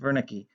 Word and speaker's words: Wernicke: called wernicke's area wernicke's named after a german doctor that's why it's pronounced wernicke this is an area